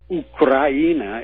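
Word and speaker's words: Украина: Ukraina is how it's pronounced in Russian.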